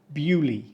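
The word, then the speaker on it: Beaulieu: fancy with this one this one is correctly pronounced Bui don't say Buu or bolu or Buu this one is French again and as usual we've anglicized it beyond recognition just say bu and pretend it makes sense bu is home to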